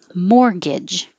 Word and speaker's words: mortgage: so i'll underline that mortgage no t and the first g sounds like a ga and the second g sounds like a ja so no wonder this word is confusing mortgage the adjective final